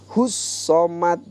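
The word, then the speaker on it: الصمد: Hus-somad itu ada soknya bertasydid, jadi kita harus bacanya double gitu. Hus-somad termasuk juga qalqalah, jadi harus dipantulkan, jangan hus-somad.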